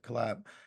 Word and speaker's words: Colaeb: just you know with the collab which c o l a EB that's what you know how we want to pronounce it collab um when you have